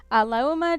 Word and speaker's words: Lauma: Lauma, just say it without the gap. Oh, okay. Say it without the gap. Okay. Lauma.